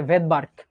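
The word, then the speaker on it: Svedberg: এস মানে হচ্ছে ভেদবার্কটা সুনামির মধ্যে যেমন টি উজ থাকে নিউমোনিয়াতে যেমন পি উজ্জ থাকে সাইলেন্ট থাকে এরকম ভেদবার্কে এসটা উজ্য থাকবে এটা কি ভাইয়া ভেদার্ক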